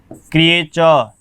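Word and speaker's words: creature: तो कारण है कि जब भी ये जो टी आया है इसके बाद में जो भी वोवल आया है तो ट का उच्चारण च हो जाएगा। आपको और भी मैं बताऊं, देखिए नेच, क्रिएचर, स्ट्रक्चर, मच्योर इसको पढ़ते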